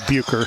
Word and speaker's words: Bircher: the basketball game, or Bircher out of the basketball game. I was told Bucher. So Bucher? Buicker, actually. So Bucher? Yeah. Out of that? Apparently okay. the R is silent.